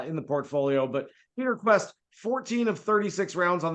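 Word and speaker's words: Kuest: It's pronounced Quest, Peter Quest, 60 to 1 this week.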